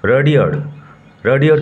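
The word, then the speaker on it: Rudyard: আজকে আমরা পড়ব class 7 lesson 7 Mowgli among the Wolves by রাডিয়ার্ড Kipling. Mowgli among the Wolves by রাডিয়ার্ড Kipling. উচ্চারণ লক্ষ্য করো, রাডিয়ার্ড Kipling, not রুডিয়ার্ড। Mowgli among the Wolves, উলভ থেকে আসছে উলভস, নেকড়ে বাঘেরা, নেকড়ে বাঘেদের মধ্যে মোগলি।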